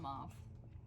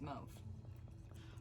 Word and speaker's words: mauve: found out that i have been saying it wrong all these years it is not mauve no its mouth okay now we're still